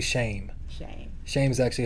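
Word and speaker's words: Shem: through the line of shim yeah it's actually not shim either we've been saying it wrong it's actually shame shame shame is actually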